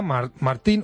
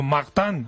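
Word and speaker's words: Martin: esposos Luis y Celia Martín o Martán, habría que decir.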